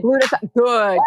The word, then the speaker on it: glutathione: Glutathione.